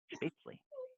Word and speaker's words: Spätzle: Spätzle. That's how you pronounce it.